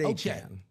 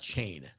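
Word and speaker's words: Achane: Is it uh I've heard a Chan. A A Chan. Yeah. You think it's a Chan? I have heard a Chan. Yes. A Chan, not Chain.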